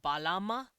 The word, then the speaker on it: Balama: end of that Ma, so the word is technically written Balama, but they usually cut out the last vowel like that if the vowel was the same as the one of the previous syllable. So because it said Balama, because of that echo vowel, they cut it out, so it's just Balam.